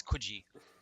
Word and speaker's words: Coogee: Yeah, but apparently I pronounced it wrong. It's Coogee.